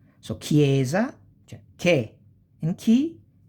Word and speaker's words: chiesa: Si pronuncia come kind keys, no? K. So chiesa, cioè che and chi, like, chiesa, chiedere, chitarra, inchiesta, inchiostro, cherubino, schermo, and scherma.